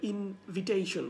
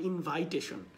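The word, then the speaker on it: invitation: যখন নাউন আসবে তখন এটাকে আপনার ইনভিটেশন বলতে হবে, নট ইনভাইটেশন।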